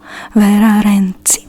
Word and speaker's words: Vera: is about vira renzi the romanian pronunciation is vera vera which who is said